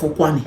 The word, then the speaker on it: Ukwuani: That Kwale, it's the pronunciation the colonial masters could make out of Ukwuani.